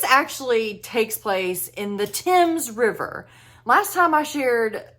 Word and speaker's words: Thames: I don't know why, but it's the Thames River, okay? That's how you're supposed to pronounce it, apparently.